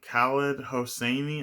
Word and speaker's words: Khaled Hosseini: Oh, and Khaled Hosseini, I think is how you say his name.